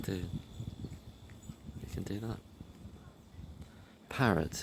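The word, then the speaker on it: Parrett: Parrots is like P A R E T, I think. But it sounds like the bird, you know, but it's not it's not spelled the same way.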